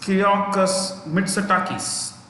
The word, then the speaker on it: Kyriakos Mitsotakis: So Greece's capital is Athens, Athens, Athens, and the prime minister is Kyriakos Mitsotakis. I'll spell that for you.